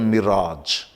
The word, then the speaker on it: mirage: पर कुछ जगह पर इस AGE का प्रोनाउंसिएशन आज होता है। जैसे कि मरीचिका, आपने देखा होगा गर्मियों में रेगिस्तान में कुछ दूरी पे पानी का आभास होता है, जिसे हम लोग अंग्रेजी में बोलते हैं मिराज।